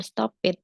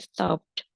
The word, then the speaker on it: stopped: Bukan stop it, ya, tapi stopped, played.